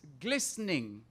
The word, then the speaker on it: glistening: James your word is glistening glistening g l i s s i n g no sorry it's g-l-i-s-t-e-n-i-n-g in the middle there is silent glistening let's go now